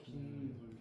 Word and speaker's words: 빗물: 이거 발음 어떻게 돼? 빈물. 그지? 빗물이야 빗물. 니은이 왜 들어오냐고 그지? 니은에 돈 날 이유가 없네. 그래서 어떻게 됐어? 니은이 돈 났네. 사이시옷을 넣어서 빗물이라고 적어줬었죠. 기억납니까?